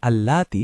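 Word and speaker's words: اللاتي: খেয়াল করবেন এখানে আল্লাতি শব্দটি একটু দীর্ঘ করে উচ্চারণ করতে হবে।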